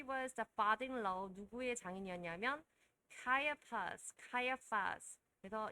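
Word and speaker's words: Caiaphas: 누구의 장인이었냐면 카이아파스. 그래서 이 표현도 이 단어도 생소한데 발음 때문에 다시 한번 보는 겁니다. 카이아파스.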